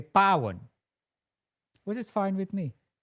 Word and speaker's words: Paw: My name is P A W and it's Pan.